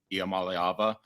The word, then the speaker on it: Iamaleava: I made him do that because I did not know how to pronounce the young man's name. Iamaleava.